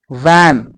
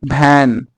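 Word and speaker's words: van: तो आप बोलो वैन, ना कि भैन. Many times वा को बा बोल देते हैं.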